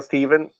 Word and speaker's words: Steven: His name was Dale Steven, and Dale I don't Steven. remember if it's Steph or Stev, but he pronounced Okay. it Dale Steven, and he lived in Sydney.